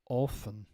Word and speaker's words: often: this is controversial often so we dropped the T you may use this common word often enough but if you're saying it with as often you're technically in the wrong Merriam-Webster prefers the t-list version since it better reflects the the evolution from its Middle English roots um this is the